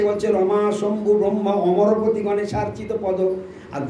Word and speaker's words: অমরপতি: হয় তো সেই অমরপতি হ্যা না বলে অনেকে মরপতি মরপতি বলছে মানে উচ্চারণ জানে না বলে শুদ্ধ সংস্কৃত উচ্চারণ